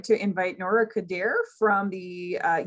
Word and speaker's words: Khudhair: faculty hi everyone my name is nora coder i'm from factor in wentache faculty of social